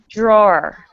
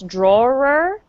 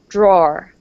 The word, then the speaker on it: drawer: so repeat after me drawer a lot of times people want to say two syllables drawer it's just one syllable drawer so imagine that it's